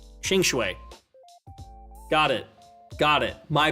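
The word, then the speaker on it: Qingque: it no uh yeah both cues are pronounced Ching sh oh it's ching ching right chingue got it got it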